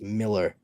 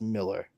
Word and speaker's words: Millar: It's Miller. I know it's spelled Millar, but it's pronounced Miller.